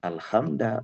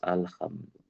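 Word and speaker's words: الحمدُ: Maka bukan alhamda bacanya harus alhamdu.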